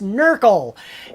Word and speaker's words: NRQL: New Relic query language yes it's pronounced knuckle and um it's the